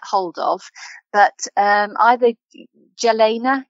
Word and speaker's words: Jelena: to get a hold of but um either Jalena yalena it's pronounced but jel Jalena j e l n